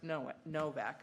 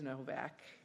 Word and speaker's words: Nowak: It's spelled with a W, but it's pronounced. Oh, with it's the- pronounced, it is spelled with a W, but it's Yes. pronounced Novak.